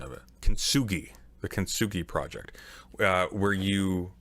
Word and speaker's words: Kintsugi: I can't, oh God, I'm going to butcher the pronunciation of it. Kintsugi, the Kintsugi project, where you reassemble broken pots, right?